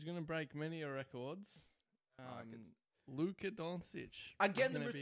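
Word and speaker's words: Dončić: It's Doncic. All right, we It did is Google, Doncic.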